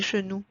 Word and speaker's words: genoux: And please do not pronounce the X at the end.